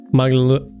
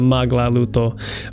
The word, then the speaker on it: magluto: Mahilig ako magluto. There's not 3 syllables in that. Magluto, there is 3 syllables, but it's not maglaluto. Magluto.